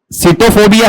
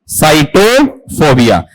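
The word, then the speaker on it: sitophobia: एस आई टी ओ पी एच ओ बी आई ए इसका उच्चारण बताओ क्या है नहीं साइटोफोबिया सिटोफोबिया है या साइटोफोबिया साइटोफोबिया बताओ साइटोफोबिया होता क्या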